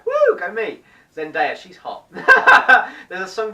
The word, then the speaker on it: Zendaya: There was a song in there between Zac Efron and Zendaya. I said it right. Woo! Go me! Zendaya, she's hot.